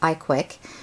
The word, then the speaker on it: ICWIC: invitation to a Blog it's called the I CWI I which pronounced iquick and what it is